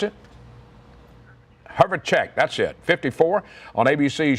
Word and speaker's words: Herjavec: 1963, Robert Herjavec, how you pronounce it? Herjavec, that's it, 54, on ABC's Shark Tank.